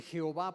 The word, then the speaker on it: Jehová: Ellos lo que hicieron, entre cada una de esas letras pusieron algo. ¿Qué fue lo que pusieron? A, E, I, O, o las letras que se requieran, y entonces se puede pronunciar como Jehová. Metieron una E y una ¿qué? O.